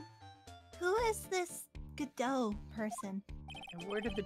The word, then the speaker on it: Godot: That's not the only time T is silent in words.